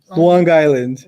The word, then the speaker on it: Long Island: Oh Long Island yeah didn't you say Long Island Long Island Long Island that's how you say it okay that's how the natives say it you said New Jersey